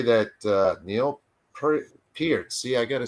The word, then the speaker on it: Peart: And Neil Peart, I used to pronounce it Pert, by the way.